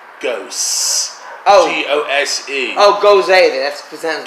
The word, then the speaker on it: Gose: G-O-S-E. Oh, Gose, that's presented. Gose, is that how you say it?